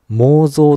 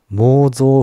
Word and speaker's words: 妄想: ましたのは仏教では暴走某もう増と読むというご指摘ですね意識と本質に出てくる妄想分別は某増分別が正しいのがそうです